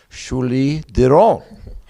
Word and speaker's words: Julie Derron: Foundation a 2024 Olympic silver medalist in Triathlon Shuli donon pretty good pronunciation thank you Bob you've been practicing am